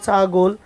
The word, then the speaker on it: ছাগল: এরকম উচ্চারণ, বানান হবে ছাগল, উচ্চারণ হবে ছাগল।